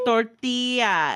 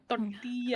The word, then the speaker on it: tortilla: white, and they're like, you better fucking say it right. Okay. I'm like, okay, sorry, tortilla, and they're like, that's better. That's you better. Learn how to roll your R's. That's better. Tortilla.